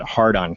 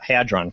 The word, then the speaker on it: Hadron: spell it on CNA and call it Hardon collider but Hadron Collider C stressed that the